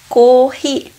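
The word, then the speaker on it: コーヒー: E se pronuncia corri.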